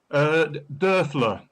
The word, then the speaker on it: Dioffler: How do you pronounce it? Dioffler. Dioffler.